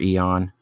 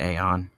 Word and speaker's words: Aeon: It's just like a robot voice that leads right into the first main song, which is Aeon or Eon. I pronounce it Aeon, A-E-O-N.